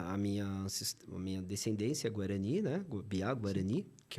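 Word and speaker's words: Mbyá: meu grupo é o piá escreve m b y a tá se pronuncia Bia cara eu eu senti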